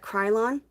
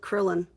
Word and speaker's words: Krylon: I think you pronounce that Krylon, or is it Krillon? I'm not sure. I'm gonna say Krylon, like cry like tears.